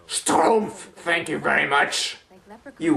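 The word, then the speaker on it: Schtroumpf: belgium also known as stromps ahem it's pronounced stroomf thank you very much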